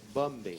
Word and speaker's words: Bombay: Il faut prononcer le M et le rebondir. Bombay.